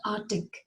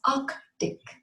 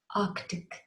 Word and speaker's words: Arctic: It is not Arctic, it is Arctic. Arctic. There's a K sound in between. Arctic.